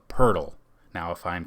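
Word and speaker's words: Poeltl: to this name but i believe it's pronounced jacob purdle now if i'm correct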